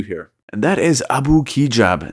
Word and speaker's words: Abu Kigab: And that is Abu Kigab. And that is actually how you pronounce his name.